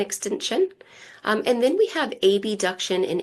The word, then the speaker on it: abduction: And then we have abduction and adduction. Now, the proper way to say this is abduction and adduction. Whenever I am teaching or talking about it, I often say abduction or adduction, just to clarify so